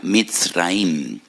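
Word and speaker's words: מצרים: esclavitud porque la palabra Egipto en hebreo se pronuncia misraim y en hebreo hay dos MS dos letras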